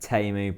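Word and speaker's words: Teemu: You're really good at pronouncing... It's Timo.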